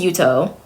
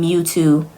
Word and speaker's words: Yuto: Like, his name is Yuto, right? So his name is Yuto. Simple enough to say. She called him Mewtwo, like the Pokemon Mewtwo.